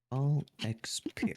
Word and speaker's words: Ball x Pit: The X is silent, Ball like Hunter X- x Hunter. Ball X Pit.